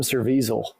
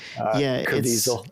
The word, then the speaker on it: Caviezel: In this case, I think it'll be Jim Caviezel, the Passion of the Christ dude.